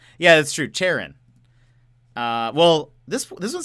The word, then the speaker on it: Charon: Charon. There we go. Well, now we know, everyone. Charon. We know now. It sounds like Karen in America. Yeah, that's true. Charon.